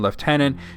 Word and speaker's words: lieutenant: So the British pronunciation left tenant is of course to irritate you know French people.